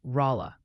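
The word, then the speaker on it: Rolla: Oh, and the pronunciation patrol wanted me to gently mention that Rala, Missouri might sound more like Raa.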